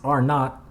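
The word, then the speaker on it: R₀: with the little subscript zero that's how it's pronounced is R not R not is a quantity that is assigned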